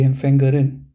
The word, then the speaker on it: Empfängerin: So you have to pronounce this part now. So it will be the Empfängerin. Okay, now you have to emphasize the R part.